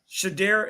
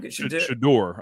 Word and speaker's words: Shedeur: Shedeur, is it how you pronounce his name? Shedeur, I believe.